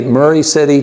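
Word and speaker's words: Maury City: what it will say is it will say Murray City Tennessee parentheses pronounced by the locals Murray City phonetically spelled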